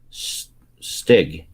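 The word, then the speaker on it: Stygg: what was his name stig wow s-t-y-g-g i know spelled a little different but pronounced the same no i always say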